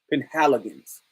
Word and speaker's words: Penhaligon's: How do you pronounce it? Penhaligon's.